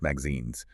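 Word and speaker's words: MXenes: Migazines, pronounced magazines, are an incredibly exciting class of two-dimensional inorganic compounds.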